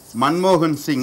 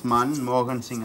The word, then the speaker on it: Manmohan Singh: Sy plays an important role what is syllable syllable is a beat for example you see Manmohan Singh his name is Manmohan Singh our prime minister name is Manmohan sing Singh